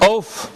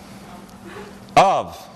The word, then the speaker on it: of: OK, so let me pronounce this-- oaf-- Oaf-- so a couple things wrong-- the vowel and the consonant at the end. Ma'am. Schwa V? Schwa V. This is of, and what I said is of.